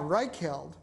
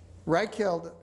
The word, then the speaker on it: Reichheld: Reichheld, R-E-I-C-H-H-E-L-D, The Ultimate Question. Can you spell it? R-E-I-C-H-H-E-L-D, as in Third Reich, and then the word held.